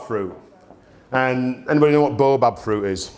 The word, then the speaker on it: baobab: And anybody know what baobab fruit is? Or baobab, as it's spelt.